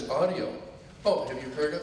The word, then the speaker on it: Autio: Oh, here, I don't know how to pronounce his name. Oh, I said it's Autio.